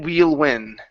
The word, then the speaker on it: we'll: weíll win wheel so long e sound sort of then well then real then we'll win then we'll win ah we will put the pusher tongue all the way up to the top we wheel then we'll